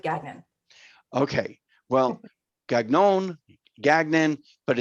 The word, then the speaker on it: Gagnon: It's supposed to be Gagnon, but no one other than on East Coast pronounces it that way, so we go with Gagnon.